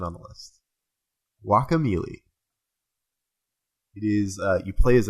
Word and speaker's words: Guacamelee: Guacamelee. Like guacamole? Like guacamole, Guaca. only like Super Smash Brothers Melee.